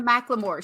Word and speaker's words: McLemore: First of all, Michele, excellent job on the McLemore. She said, how do you pronounce Dorie's last name? And I said, like the song Thrift Shop.